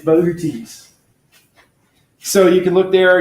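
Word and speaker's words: Boötes: in case you're wondering if it's booties or boutis you know that tells you it's boutis so you can look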